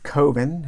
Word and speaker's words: coven: So this is the Coven of Hate, or Coven if you are an American movie fan. Coven rhymes with oven, remember that.